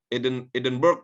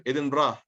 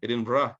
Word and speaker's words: Edinburgh: Ada orang Jakarta bilang misalnya Edinburgh katanya. Padahal bacanya itu Edinburgh. Nama kampung orang, walaupun tulisannya itu jangan diubah-ubah. Kalau orang Jakarta Selatan bilangnya Edinburgh gitu. Padahal bacanya seharusnya yang dibaca itu Edinburgh, seperti itu.